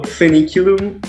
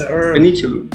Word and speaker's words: Foeniculum: So Foeniculum is Latin for fennel. So just think about fennel, how you pronounce fennel, then you pronounce Foeniculum.